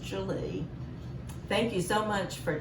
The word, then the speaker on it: Gwili: that that's how you pronounce it but it's pronounced julie thank you so much for taking the time